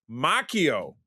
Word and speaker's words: Macchio: But this is Marvel Comics own Ralph Mchio joined me. That's it. Perfect pronunciation.